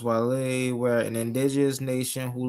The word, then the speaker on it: Guale: It's spelled Guale. The land of the gully. Guale. Yes, the land of the gully. That's Gullah, bro. Depending on who's saying it, that's Gullah. It's pronounced Wale, were an indigenous nation